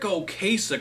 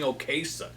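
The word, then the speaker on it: Ocasek: How about Rick Oasich or Rick Oasich? You got to say it properly. Rick Oasic. I'm so used to saying Okasich. But I got to remember to say Oasic.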